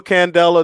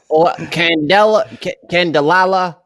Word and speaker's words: candela: There is a Cuba candela. There's a Blondie candela. Teacher. This is not in any of my notes here. What candelala? Like what? No, don't over. It's 3 syllables.